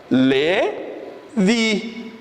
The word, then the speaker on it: Levi: É como se fosse Levi Y daí no final, tá? Como fosse colocar, fosse transliterizar para o português, colocaria L-E-V-I-Y. Que seria a pronúncia, seria o quê? Levi.